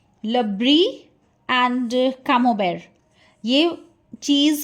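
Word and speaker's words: Camembert: This is brie and कामोबेर। टी is silent here.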